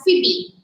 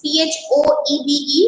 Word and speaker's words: Phoebe: her name is phoebe carring her name is pronounced as phoebe it is p-h-o-e-b-e it's pronounced as phoebe carrie she's an american